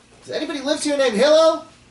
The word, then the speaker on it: Hillel: Does anybody live here named Hillel? Hallel, how do you pronounce it? Hillel.